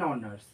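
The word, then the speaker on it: honours: আর একটা অনার্স, অ্যান অনার্স, কারণ এইচ এটার উচ্চারণ হচ্ছে না তো।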